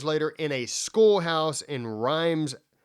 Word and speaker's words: Reims: This is 30 years later in a schoolhouse in Reims. How would you say that? Reims, Germany, or Reims, Germany? Reims? Yeah. I heard it's pronounced Reims. Reims? Right. It's like the capital of the Champagne district.